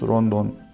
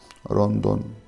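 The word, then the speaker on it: ロンドン: So you can see there is no L in Japanese, so they pronounce as ro. Instead of L, they pronounce R. So London becomes Rondon. Rondon.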